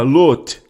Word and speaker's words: Lot: falou com Abraão certo ló é na verdade a palavra lote é assim que se pronuncia e lote e em hebraico significa